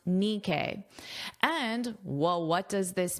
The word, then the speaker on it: Nikkei: I listened to the pronunciation and now I know it's pronounced Nikkei.